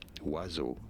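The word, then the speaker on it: oiseau: So, Wazo. Wazo is how you pronounce this word.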